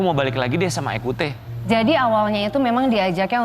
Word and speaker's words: Ecoutez: Bacanya Ekhute apa Ekhutes? Ekhute.